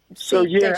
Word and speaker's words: Deji: So I basically said to your researcher to say it like, you know, when you say day, Monday, day, and then the letter G.